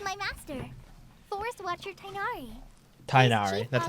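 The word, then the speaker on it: Tighnari: Tainari, that's how you pronounce it.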